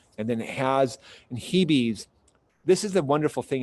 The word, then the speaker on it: Hebe: This is a type of Hebe. It's spelled H-E-B-E. So a lot of people just say Hebe, but it's Hebe.